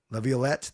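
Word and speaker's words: Laviolette: Peter Levlet, there I said it right.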